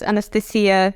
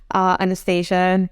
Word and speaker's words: Anastasia: I love the pronunciation of the Russian Anastasia. It's got like this beautiful ring to it, rather than English Anastasia. It goes down, whereas in Russian Anastasia, and it finishes on that uptone.